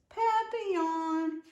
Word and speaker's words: papillon: You say it like this, papillon. In French, it means butterfly.